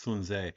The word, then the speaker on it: Sun Tzu: Sun Tzu's The Art, well, technically it's pronounced Sun Tzu.